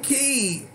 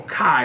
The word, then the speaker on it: Ki: And then understanding, like, how much Gil and even Key, well, Kai is how you pronounce her name, but we're not going to get into that either, of how much they've evolved.